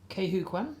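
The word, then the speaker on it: Quan: How do you pronounce that name there? Kwan.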